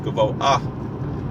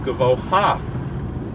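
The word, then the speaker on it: גבוה: recording to clarity, but there is a slight pronunciation of the hey at the end of the word, and it's similar to how we say noach, koach instead of nocha or nocha. It's not gavoha, it's gavoah.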